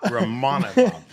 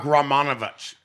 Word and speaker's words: Rakhmonov: His name is Shavkat Rakhmonov.